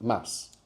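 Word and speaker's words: ます: So whilst mass is written mu is generally pronounced mass.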